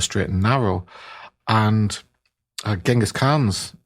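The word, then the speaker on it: Chinggis Khan: and narrow and uh genghis khan's ching is han if you want to give the user pronunciation or closer to the correct pronunciation uh his mother told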